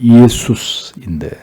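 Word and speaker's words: Ἰησοῦς: 예수, 정확한 발음은 예수스인데 여호와는 구원이시다라는 뜻으로 당시 유대인들에게 이 이름은 굉장히 흔한 이름이었습니다.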